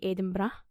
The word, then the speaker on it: Edinburgh: As I said, today's episode, we find ourselves in our very own capital city of Edinburgh or Edinburg or Edinburg or whatever way you want to pronounce it. We say Edinra.